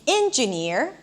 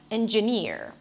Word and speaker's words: engineer: So, for example, you may hear someone saying engineer instead of engineer, catastrophe instead of catastrophe.